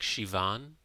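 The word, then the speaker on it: Siobhan: name of Irish origin And how do you pronounce that? Like Shivon Levon with a V.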